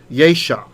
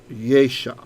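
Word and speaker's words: ישע: what is ye so this word is actually yesha when you look it up in the dictionary yesha yesha okay yesha is a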